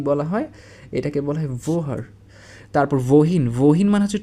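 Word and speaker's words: woher: কি বলে থাকি আর জার্মান ভাষা এটাকে বলা হচছে ভোহার এটা হচ্ছে গিয়ে জার্মান ভাষার শব্দ ভোহার আর এটাকে ইংলিশে আমরা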